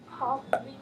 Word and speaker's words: popped: Popped. Exactly. The popcorn popped. Do you hear that T sound at the end?